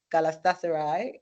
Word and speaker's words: Galatasaray: Oh well, he just wrapped up Galatasaray, right? That's the pronunciation.